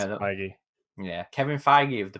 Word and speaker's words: Feige: How do you pronounce it? The I think you it's know the, Feige.